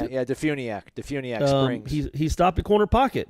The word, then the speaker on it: DeFuniak Springs: Is that how you pronounce it? Yeah, Defuniak Springs.